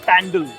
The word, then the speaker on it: pandal: for pandal hopping yeah that's how it is pronounced by the way pandal today we are at